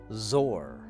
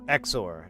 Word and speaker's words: XOR: Tis an Isaac Beers Zor, or Exor, depending on what part of the country you're from. Hopefully it's part of the country where we pronounce it like I do.